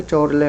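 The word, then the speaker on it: Chorley: Hack और चोरले बोल सकते हो, कुछ भी इसको प्रोनाउंसिएशन कर सकते हो, वैसे चोरले हम यहाँ पर बोल रहे हैं।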